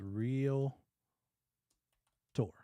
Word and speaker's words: realtor: and by the way there's only one a it's only one a in realtor there's not reality it's real tour not real uh tour from here forward you